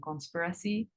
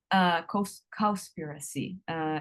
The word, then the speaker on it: Cowspiracy: and Conspiracy. Cowspiracy. It's spelled COW.